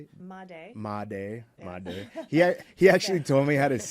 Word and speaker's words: Madej: Madej.